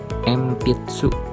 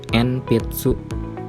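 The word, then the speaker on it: 鉛筆: Contohnya ada ichi, empitsu, ni, simbung, sam, bimbo, yom, jembu. Jadi pelafalannya bukan enpitsu, sinbum, binbo, dan jenbu, tetapi pelafalannya huruf N diucapkan M.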